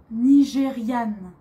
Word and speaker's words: nigériane: Pour une fille, je suis nigériane. Nigériane. Vous voyez toujours, il y a un E. Pour les filles, à la fin, on met un E. Alors, on prononce différemment. Nigérian, nigériane. C'est différent.